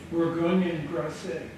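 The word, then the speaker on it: Bourgogne et Grasset: Can you pronounce that for me, Michael? Bourgogne Grasset.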